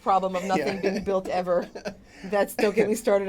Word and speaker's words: Yves: there right now is the Eve hotel pronounce that Eve oh y-v-e-s yeah yeah yeah it's